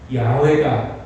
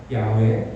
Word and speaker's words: 야훼: 그 여호와라고 하는 이름을 요즘 연구하는 학자들에 의해서 원래의 이 발음은 야훼다. 야훼.